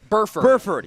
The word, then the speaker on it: Burford: uh i'll double check that i believe you're pronouncing it correctly i'm a little surprised burford yes perfect thank you uh chuadoga athletic con